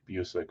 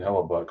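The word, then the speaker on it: Hellebuyck: I always pronounce it Hellebuck in my head, but I know it's like Busick or something, isn't it? I say it like you spelled it, in my opinion, Hellebuck, but I don't think that's how you say it, is it? Oh, it is.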